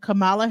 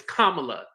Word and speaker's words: Kamala: Yeah, so he did a call out to sit down with Kamala Harris and Donald Trump to find out what each person was going to do for the.